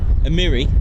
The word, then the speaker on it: Amiri: Force and Qatari emirai Amiri is it a Miri I think they pronounce it slightly different I've been pronouncing it wrong for about two years a Mirai I think it is Amiri that's itari Emery Air Force is